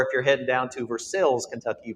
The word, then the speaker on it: Versailles: the wonderful opportunity to come on down to Versailles, Kentucky, and it's not Versailles. They will absolutely exclude you and not have a conversation. So make sure if you're heading down to Versailles, Kentucky, you pronounce it properly.